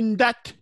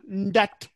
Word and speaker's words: Ndat: On écrit Ndat. Hein? Mais on lit Nda. Nda. C'est vrai que d'autres abusent un peu en mettant le T. Ndat. Oui, mais si tu dis Nda, c'est mieux.